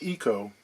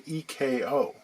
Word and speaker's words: Eko: We're going to talk echo guitars. I've heard it pronounced eco as well. I've even heard some people say EKO.